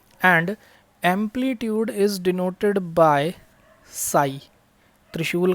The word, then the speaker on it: psi: And amplitude is denoted by साई, त्रिशूल का sign बनाते हैं और इसको पी साइलेंट होता है, PSI।